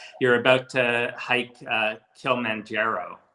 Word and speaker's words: Kilimanjaro: about to hike uh kilimanjaro right is that how you pronounce it yeah i'm actually that's